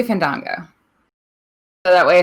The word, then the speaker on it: Fandango: He went back into the ring to attack Fandango. It's Fandango, isn't it? Doing it again. They pronounce it both ways. It's really weird. So I guess pronounce it however you want. Say Fandango.